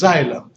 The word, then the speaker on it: xylem: water is called as xylem you pronounce it as like his Z if we do is spelled with an X all right let me